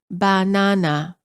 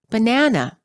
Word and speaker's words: banana: each syllable for example in many languages the word banana is pronounced as banana all three syllables are stressed equally in English we pronounce the word as banana the second syllable is stressed the vowel within the